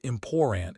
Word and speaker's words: important: Yes, important is a glottal stop. It is not lazy, it is an accent feature.